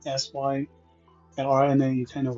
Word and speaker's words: Sylrna: of Empress Enya, and her name is not easy to pronounce in the English version, at least for me, it's spelled as Sylrna. Okay, the Chinese pronunciation is much easier, Sylrna.